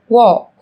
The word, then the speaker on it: walk: yellow, Một số từ sau đây sẽ có chữ cái L trong cách viết nhưng chúng ta không cần phát âm. Talk, talk. Walk, walk.